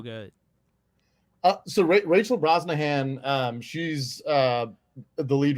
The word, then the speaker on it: Brosnahan: how you say his name and then Rachel brahan Brosnahan yeah she's great she's incredible she's perfect for